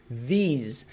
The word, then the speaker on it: these: Muita gente erra a pronúncia dessa palavrinha. A gente tem this no singular, comigo, this. Lembra do Zeca, língua presa? This. This, this, this. E a gente tem o plural. These, these, these, these.